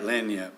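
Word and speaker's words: lagniappe: but the first, there's a reenactment, Gunfighters, that Lanyap, I believe it is. I said it wrong. Maybe you got it right. Yeah, you got it right. Lanyap, yeah.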